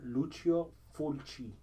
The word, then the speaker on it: Lucio Fulci: And this is actually Lucio Falucci? Yeah, whatever. But he is basically Lucio Fulci. Okay. He's Italian. I'm Italian. Why would you not ask me how to pronounce this? Whatever. Lucio Fulci. I'm like, that doesn't sound right.